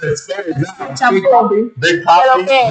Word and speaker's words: Papee: So that's why he's like, it's spelled when I end up saying it with the Spanish accent, he's like, I like that one. But you still carry that Papi swagger. Right? Yeah. I'm not explaining Big Papi.